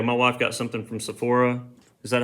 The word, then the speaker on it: Sephora: My wife got something from Sephora.